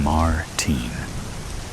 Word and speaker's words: Martin: He pronounces Martin in the American way, rather than the way I prefer it. Martine.